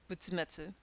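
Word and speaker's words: 仏滅: Only really one pronunciation, butsumetsu.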